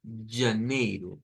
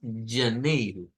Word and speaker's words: janeiro: já, já, Es un sonido que debemos de hacerlo como que fuera la Y del español o como cuando usamos la doble L. Yi, yi, yi. Es un sonido vibrante. Entonces, janeiro.